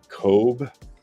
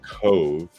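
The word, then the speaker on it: Cobh: went to the port coob or it's pronounced Cove Ireland but it's spelled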